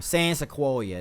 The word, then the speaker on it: San Sequoia: San Sequoia, that's right.